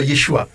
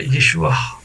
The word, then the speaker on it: Yeshua: C'est une lettre qu'on retrouve à la fin de Yeshua. Voilà, normalement, on devrait dire Yeshua. Très léger. Vous voyez, très léger, mais bon, souvent on ne prononce pas. Mais ça s'appelle une lettre gutturale d'ailleurs.